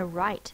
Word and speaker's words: write: r i r and this word has a silent w r i is just one I and T now to make this I say it's long sound we use a silent E to make the I say it's long sound right we have a silent W and a silent E syllable type right the last